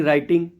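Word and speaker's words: write: राइट बहुत ही reading राइटिंग तो डब्लू आर आईटी होता है लेकिन हम राइट बोलते हैं डब्लू का प्रोनंसिएशन नहीं होता है जैसे रिस्ट रिंकल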